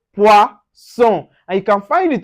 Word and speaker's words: poisson: Now, for instance, we have poisson, poisson. So you can see the son. We don't say zone here. The double S gives us so. So we say poisson.